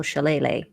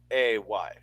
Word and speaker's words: shillelagh: wacky stick being used because I did not know how to spell shillelagh. I don't know how to spell it. I just spell it phonetically. I like wacky stick. Wacky stick. Shillalay.